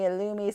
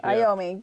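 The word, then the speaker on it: Iommi: trigger on a Tony illumi signature guitar is that how you say it Tony iomi it looks like l oh Tony iomi ayomi my bad Black Sabbath does anyone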